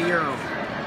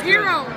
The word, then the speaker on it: gyro: now we're eating a euro a gyro it's it's spelled like a gyro but it's a euro it's hero now let's see what